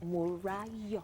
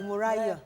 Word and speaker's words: Morayo: So it's Morayo. Yeah. Morayo. Morayo. Let them understand. Morayo.